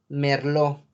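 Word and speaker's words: merlot: caso de la uva merlo que es francesa merlo late no se pronuncia sale o en el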